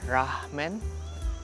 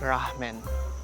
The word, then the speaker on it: Rahmen: or should I say ramen? It is an interesting spelling because normally ramen is spelled with a dash, so you pronounce it ramen. But here they call it ramen.